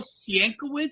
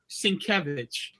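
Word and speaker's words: Sienkiewicz: and he said and is it Bill Sienko and I said Sinkevich and he said and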